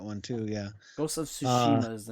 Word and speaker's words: Tsushima: Say Tsushima. Oh, okay. Tsushima.